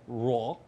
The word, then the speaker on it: Roy: I'm here in the back house with my new friends, Roy, Raw, the French pronunciation.